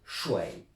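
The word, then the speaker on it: 谁: là-bas, quand j'habitais là-bas, certains le prononcent Shui. S-H-U-I, deuxième ton, même ton que Shei. La plupart du temps vous allez entendre Shei, mais sachez que si vous entendez Shui, attention à ne pas confondre avec Shui.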